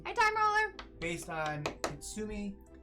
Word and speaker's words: Kintsugi: based on Kintsugi. Kintsugi. Kintsugi. I always want to drop the N.